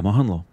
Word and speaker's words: Mohanlal: Mohanlal. Mohanlal. Am I pronouncing it right? Yeah, Mohanlal.